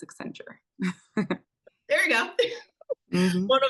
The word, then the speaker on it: Accenture: They got fancy, they put Ascend with future and they got Accenture. That's how you pronounce it, Accenture. Is that why they came up with this name? Yeah, they had like a whole contest to find the name. And so, yeah, it's Accenture.